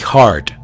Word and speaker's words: Hart: James del inglés, Juan, y Hart, H-A-R, D de dedo, T de Tomás, Hart.